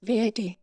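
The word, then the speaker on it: VAT: a time for example the acronym for value added tax can be said as v80 or as that like a container of liquid and screen reader might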